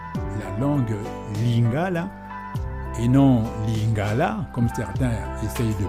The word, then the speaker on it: lingala: Ainsi donc, en lingala, d'abord, tenez compte du fait que la langue lingala, et non lingala, comme certains essayent de prononcer à la française, la langue lingala, l'accent tonique tombe, lingala.